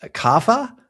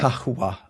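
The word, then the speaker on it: قهوة: Pronounced qahwa, something like that with that C sound at the start with the Q sound at the start in Arabic. qahwa.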